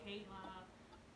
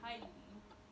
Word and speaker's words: Kylie: And then, I'm gonna be honest, like, half of my family can't even pronounce her name right. They'd be like, Kayla, Kyla, like that. They'd be saying that when her name is Kylie.